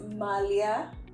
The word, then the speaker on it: Malia: Did I say that properly, or do you need to correct me on how I pronounce it? I need to correct you a little bit, It is Malia.